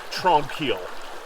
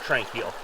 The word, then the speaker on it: Tranquille: Sorry for the locals, I say it wrong. Tranquille, not Tranquille. One of the locals suggested